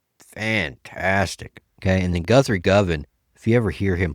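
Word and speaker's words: Govan: Uh, another one, okay, uh, uh, probably nobody ever listens to is, uh, Guthri Goan. Uh, probably just butchered his name. It's Guthri Govin.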